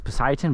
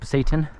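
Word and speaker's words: Pasayten: area the Satan p-a-s-a-y-t-e-n I thought it was Poseidon but it's pronounced Satan foreign I don't even know how long it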